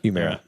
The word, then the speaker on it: Humira: Humira? Humira.